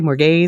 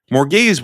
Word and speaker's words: Morgase: What do you say, Morgase? Morgase. Yeah. And I think they said that in the show too. No, that's fair. I just pronounce it with a European A.